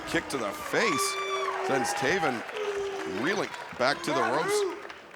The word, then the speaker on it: Taven: It rhymes with Maven, who I know him, and Raven, who I don't like, but I know Raven.